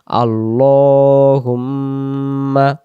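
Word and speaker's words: اللّٰهُمَّ: এজন্য আমরা উচ্চারণটা করব আল্লাহুম্মা মি তাসদিদ গুন্না করে পড়তে হয়।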